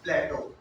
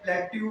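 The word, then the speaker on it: plateau: प्लेटो। क्या है? प्लेटो। देखो भाई, बहुत सारे प्लेट्यू बोलते हैं पर प्लेट्यू नहीं होता। ओरिजिनल जो इंग्लिश स्पेलिंग वर्ड इसको बोला जाता है वो प्लेटो बोला जाता है।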